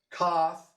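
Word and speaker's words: coth: cyrus but hannah montana cough rhymes with cloth sets rhymes with fetch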